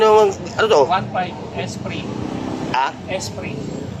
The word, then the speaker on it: Esprit: Esprit. Spirit. Esprit. Esprit ang tawag, hindi spirit. Yung iba, Esprit. Silent T yan, Esprit. Silent T, no? Tulog yung T.